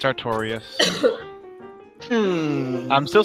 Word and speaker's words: Artorias: get the archarias figure but it was 500 artorias i'm pretty sure that's not how that's pronounced artorias a-r-t-o-r-i-a-s victorious arterius killed right here